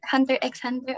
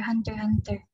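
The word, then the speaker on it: Hunter × Hunter: never i know in hunter hunter isn't it pronounced under x hunter oh yes yes is it hunter x hunter or hunter hunter and this this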